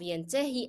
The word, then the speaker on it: ينتهي: Why do I pronounce this ya by the end of ينتهي as ya? Because the preceding letter is carrying kasra. Remember this? If it was fatha, I will be pronouncing ya as alif. However, here, the ya is preceded by a letter carrying kasra. So it will be pronounced as long e.